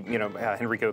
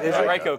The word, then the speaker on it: Henrico: You should be in touch with the activists who are going to take over the, Henrico County. I pronounced it wrong, didn't I? Henrico County.